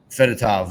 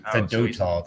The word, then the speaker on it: Fedotov: Um did you know a Russian goalender that like uh Fedatav, we traded him to Fedotov, sorry for the pronunciation.